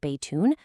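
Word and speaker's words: بيتٌ: Third, notice that n sound at the end of nouns like baytun. That's called tanween, and it serves the exact same purpose as the English words a or an.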